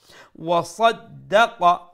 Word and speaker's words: وصدق: যেহেতু মধ্যে আসলি তাবিঈ وصدق صاد make sure you pronounce it with a full sound.